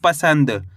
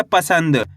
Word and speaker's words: पसंद: प स में अनुस्वार की मात्रा सन द तो मिलकर बन जाएगा पसंद कैसे पढ़ेंगे पसंद आया समझ में आपको करने के आधा न का उच्चारण तेजी के साथ निकालना है कैसे पसंद आपको मेरे